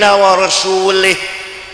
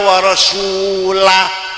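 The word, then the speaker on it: وَرَسُولُهُ: Anu baca Quran salah. Wa annallaha bari'um minal musyrikin wa rasulih. Allah musyrik dan tidak melindungi Rasulullah salah yang benar bacanya wa annallaha bari'um minal musyrikina wa rasulah ada wa rasulih artinya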